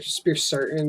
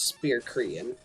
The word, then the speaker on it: Spear Cretin: I used to call him that because, like, I didn't know how to pronounce it. So, like, but yeah, obviously now I know it's Spear Cretin.